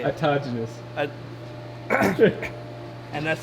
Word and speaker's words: autogenous: Autonomous. No. Nope. You're close. You're close. Fuck. I forgot how you say it. Autogenous.